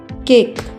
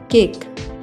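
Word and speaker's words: cake: जब कोई English word चार लेटर्स से मिलकर बनता है और उसमें दो वोवेल आते हैं तो ज्यादातर ऐसा होता है कि फर्स्ट वोवेल लॉन्ग साउंड लेगा और सेकंड वोवेल साइलेंट रहेगा। केक में यही हुआ है।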